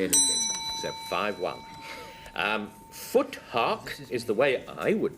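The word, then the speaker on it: futhark: Um, foot hawk is the way I would pronounce this next word. Frank fuark. Ah, fu fuark because it's Anglo-Saxon.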